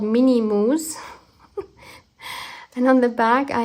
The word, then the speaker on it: Moo: and they are by the company Mo, or Moo, I guess you pronounce it Moo in English, M-O-O.